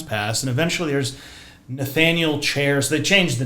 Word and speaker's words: Cheairs: So, you know, there's kid born and another one and the generations pass and eventually there's Nathaniel Chairs.